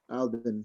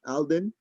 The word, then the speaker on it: Alden: you know you to alvin that's how you say your name right alden yeah all right i said it right cool xavier show yourself